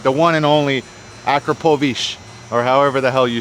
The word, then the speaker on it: Akrapovič: All right, the one and only Akrapovič, or however the hell you say it.